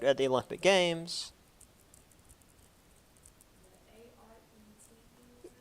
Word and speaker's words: arete: The A-R-E-T-E? Yeah, arete. I'm assuming that's how it's pronounced. It's Greek, not French. If it was French, it'd be like, you wouldn't even pronounce half of it.